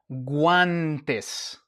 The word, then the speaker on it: guantes: And the word we have here is guantes. Guantes. Okay. We have the g, the u, and the a. And this is a gua sound. We pronounce the U and we pronounce the A.